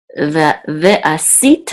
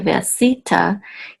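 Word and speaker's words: וְעָשִׂיתָ: So ve'asita, and the accent here is on si. Okay, ve'asita imadi.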